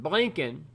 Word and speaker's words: Blinken: And Blinken, which rhymes with blanking, it is McFoolery Friday.